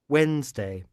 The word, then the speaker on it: Wednesday: Monday tuesday tuesday wednesday wednesday repare que aqui nessa palavra gente quarta-feira em inglês você não pronuncia esse D tá bom wednesday wednesday não pronunci o d ths thursday thursday